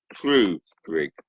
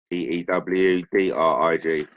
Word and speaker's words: Tewdrig: So, AKA King Trudrig. Of course, got that wrong. Tewdrig.